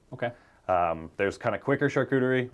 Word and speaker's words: charcuterie: here's the $64,000 question and it's can I pronounce it correctly what is charcuterie yeah you did good did I do good